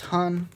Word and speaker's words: Han: as i've mentioned before this letter is pronounced han and that's what we've